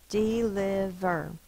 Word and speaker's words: deliver: We say ver, deliver, but when you look it up in the dictionary, this has to be a closed syllable. So, because it has to say the I sound. So the V is written as a syllable with that I.